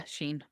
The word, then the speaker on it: Shein: Is it pronounced Sheen? Because I've never been clear on how to pronounce that. Yeah, Shein. Okay, so you buy the thing from Sheen, you have it forever, a little while, and